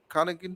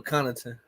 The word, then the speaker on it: Connaughton: Middleton, 16 points, and that other guy, I don't even know how to pronounce his name. Grayson Allen. No, not Grayson Allen. Connaughton. Oh, Connaughton. Yeah, Yeah, Connaughton.